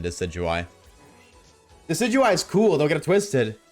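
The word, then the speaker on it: Decidueye: I love how Decadooi gets mispronounced. True. A Decadooi is so much more fun to say than Decidui.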